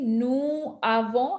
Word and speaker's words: nous avons: S of the nous, when you just pronounce nous by itself, we don't pronounce the S. It's always silent. Oh, So nous. But when you have it with avons, nous avons, then when the S is followed by a vowel, which is the A of the avant, then the S is pronounced with a Z sound and it is pronounced as if it is the first letter of avant.